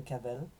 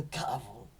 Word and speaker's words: Cavel: Au lieu de prononcer son nom correct, c'est-à-dire Janine de Cavel, il disait Janine de Cavre.